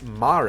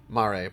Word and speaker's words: Mare: Mare, pronounced not like the horse girls.